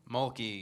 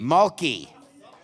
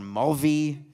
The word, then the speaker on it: Mulkey: Her name is Kim Mulkey. Mulkey. I called her Mulvey, Mulva, Malaki, and I don't do it to be funny.